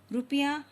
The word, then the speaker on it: रुपया: आप देखते होंगे रुपया और रूप दोनों में जो है उच्चारण अलग हो जाता है। रुपया बहुत जल्दी हम बोल के रुक जाते हैं और जब हम रूप बोलते हैं तो यहाँ क्या है, स्वर आप थोड़ा सा इसको बढ़ाते हैं, यानी कि आप स्वर को खींच सकते हैं।